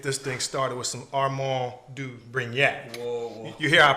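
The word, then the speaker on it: Armand de Brignac: So today, instead of just a cocktail, we got to get this thing started with some Armand du Brignac. Whoa. You hear I pronounce that properly, right? Armand du Brignac.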